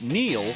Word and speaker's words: Neel: It's no coincidence that Neel rhymes with deal, because that's something you could always count on with the leader in tires and auto repair for nearly a century.